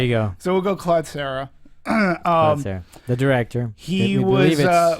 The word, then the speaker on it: Collet-Serra: up on a ruling in how to properly pronounce? We're going to say Collet-Serra.